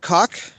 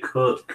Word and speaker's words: Koch: Greg Cook. Jim Cook. Well, it's pronounced Koch.